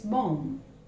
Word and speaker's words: bomb: Remember, it is not bomb, it's bomb. This B is silent, it's bomb.